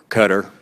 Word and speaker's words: Qatar: guns were smuggled from Qatar cutter I think it's a correct pronunciation now uh cutter to Libya used by